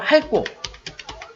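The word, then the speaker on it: 핥고: 다음으로 할고. 어떻게 발음이 났어요? 리을, 티읕이? 리을, 티읕이 어떻게 발음이 났죠? 그쵸. 리을로 발음 났죠.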